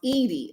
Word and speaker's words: Eddy: Emily says, I will never get rid of Bernadette Eddy, pronounced Edie.